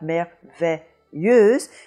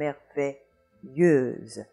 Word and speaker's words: merveilleuse: We've looked at this combination before, the S between two vowels sounding like a Z, and the EU in front of a Z sounding like E. So in both cases, you have that vowel E, merveilleux and merveilleuse.